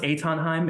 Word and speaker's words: Haim: description, but Yeah, yeah, it's pronounced Haim.